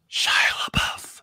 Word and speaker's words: Shia LaBeouf: No, you're not you saying it right. It. It's Shia LaBeouf.